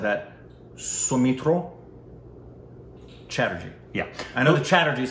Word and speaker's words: Soumitra Chatterjee: that I said that, Soumitra Chatterjee. Yeah. I know the Chatterjees for sure, but some would pronounce it Soumitra, but in Bengal it would be Soumitra.